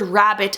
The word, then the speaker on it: rabbit: closed syllable rule because when you say the word rabbit aloud show them that there's actually only five sounds so that double b is not making two b sounds it's not rabbit that